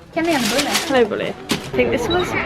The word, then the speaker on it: kanelbulle: You can't pronounce anything right. Hi. kanelbulle? How do you say it? Kanelbulle? Kanelbulle.